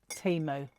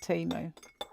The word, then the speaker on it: Temu: How do you say it? Like emu or Temu? I call it Temu.